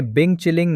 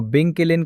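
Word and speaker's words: 冰淇淋: इस वीडियो को लाखों उपयोगकर्ताओं ने देखा और इसने बिंग चिलिंग नामक मीम को जन्म दिया, जो बिंग किलिन का गलत उच्चारण है, जिसका अर्थ आइसक्रीम होता है और वीडियो में बार बार बोला जाता है।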